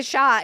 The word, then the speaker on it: Xia: You're supposed to say Shah, and that is the Chinese pronunciation.